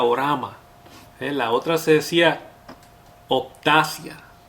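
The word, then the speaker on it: ὅραμα: Ahora, la palabra visión en el mundo espiritual quiere decir que se pronuncia orama.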